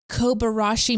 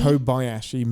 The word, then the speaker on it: Kobayashi: I I feel like the kobarashi maru kobayoshi maru.